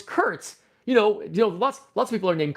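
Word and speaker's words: Kert: His name was Kurt Gardner, but his name Kurt is spelled K-E-R-T. And he said the reason why his name is spelled that is because his parents, when his parents named him, they named him after Star Trek, but they just took Trek and put it backwards. So it's Kurt.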